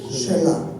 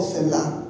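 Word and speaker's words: Selah: No sé en sus biblias, pero en mi Biblia viene un punto y aparte y en medio dice shela o sel o cela, como lo queramos pronunciar.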